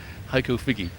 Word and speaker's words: Heiko Figge: Heiko Figge.